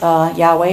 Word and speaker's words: Yahweh: God's personal name YH wh which we often pronounce Yahweh or Jehovah comes from the Hebrew word which